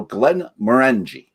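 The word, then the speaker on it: Glenmorangie: is often mispronounced and the emphasis should always be on the second syllable so glenn maranji is this a rule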